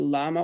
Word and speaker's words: llama: where they had both the llama or llama, depending on how you want to pronounce double L, and maize and corn.